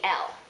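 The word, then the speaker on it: elle: is feminine it'll be L um same thing here with eel plural and L plural notice that these are pronounced the same eel eel l l um for eel it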